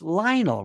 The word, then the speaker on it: Lionel: I said, it's Lionel. Rhymes with vinyl.